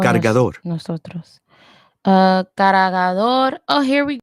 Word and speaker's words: cargador: Cargador. Cargador. Oh, lo siento. Cargador, not cargador. Cargador is the hard he sound, hard he sound.